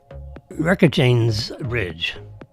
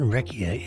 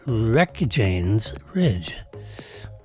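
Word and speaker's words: Reykjanes Ridge: Um, it was a 6.9 on the recctor scale in the uh, Wreck Jane's Ridge. It's not Reia, it's Rec Jane's Ridge. I said it right the first time.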